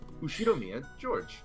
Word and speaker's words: Ushiromiya George: Pronounced Ushiromiya George.